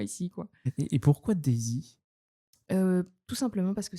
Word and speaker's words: Daysy: sur mon nom d'artiste day sy euh pour une prononciation un peu plus à l'anglaise aussi euh sachant que j'ai des des racines anglaises dans mon sang euh donc euh donc voilà pourquoi Daisy et ben je vais